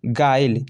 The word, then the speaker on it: guile: तो देखिए गाइल, GUILE, GUI, देखिए यू के आगे क्या है, आई है, ये भी वोवेल साउंड है, ठीक है।